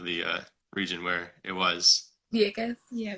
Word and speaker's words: Vieques: just the I don't think I can pronounce the name of the region where it was. Vieques. Yeah, Vieques.